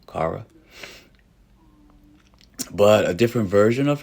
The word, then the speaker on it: Kara: You had Kyra. Kyra was in this, John. Um, that's Supergirl. Or did I say her name wrong? Kara.